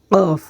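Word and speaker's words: ق: ফা তারপরের হরফটি হচ্ছে কফ কফ কফ গলার মাঝখানে আমরা উচ্চারণ করব কফ কফ কফ ক বাংলায় আমরা উচ্চারণ ক মতো না করে অল্প একটু ভিতর থেকে আমরা উচ্চারণটি করব কফ কফ তারপরে হরফটি হচ্ছে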